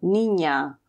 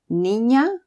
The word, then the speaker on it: niña: the Spanish alphabet and is pronounced like ni in onion. So, niña y niño. O mañana. Otra vez, niña y niño.